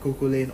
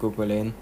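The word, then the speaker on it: Cú Chulainn: Because he doesn't have survivability like Kukulane. Or Kuhulan. Apparently that's how you pronounce it.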